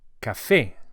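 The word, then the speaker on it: café: Unafe and we emphasize the a vowel as it has an accent on it which indicates the stress. So it's cafe and not cafe.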